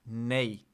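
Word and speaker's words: nie: And then yes is nay is nay. I was right. It's nay. Interesting. I think they pronounce it like nay or something. Can you hear that? Nope. I just like played an audio of it. Okay, never mind. It's like nay nay nay.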